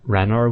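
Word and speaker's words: Ranarr: was a little odd ranar weeds it's just Rana they take away both of the RS Rana but uh actually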